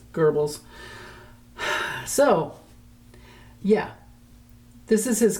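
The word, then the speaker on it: Goebbels: I spell it like Gobles, but it's Gerbles.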